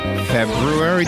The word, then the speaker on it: February: The R, you can't forget the R. I could easily be lazy. Say February.